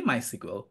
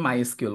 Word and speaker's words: MySQL: both pronunciation আর fine আপনি এস কিউএল বলেন অথবা মাই সিকুয়েল বলেন দুটাই পারফেক্টলি ফাইন দুটাই মানুষজন একদম সমান ভাবে ইউজ করে আমি বলি মাই সিকুয়েল আমাদের কোর্সে যারা ইন্সট্রাক্টর আছে তারা হয়তো অনেকে উচ্চারণ করার সময় মাই এসqউএল বলবে সেটা কিন্তু ভুল না that is also perfectly right okay তো আমরা যেই